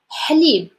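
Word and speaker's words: حليب: It's ha sound. We're doing nothing. It's just like your tongue is like flat, and in the middle is like really moving just slowly, and just like taking this, like that sound.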